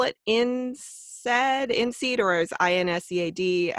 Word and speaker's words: INSEAD: And you said it's instead, like instead, but without the T. No, it's INSEAD.